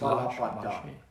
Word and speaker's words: Lache: Yeah, but it's Lache. Like Nick Lache.